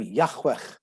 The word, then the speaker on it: Yahweh: make it pronounceable and the h's almost disappear yahweh you go and this